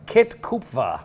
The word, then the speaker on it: Kit Kupfer: Kupfer. Kit Kupfer. Kit Kupfer.